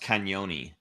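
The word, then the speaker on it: Cagnoni: goals and 17 assists I want to say that's pronounced canoni Canon yeah is that the Italian I know there's a g there but I'm pretty sure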